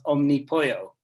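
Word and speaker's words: Omnipollo: name right but uh the brewery i would pronounce omnipoyo but that's that's i'll say it a couple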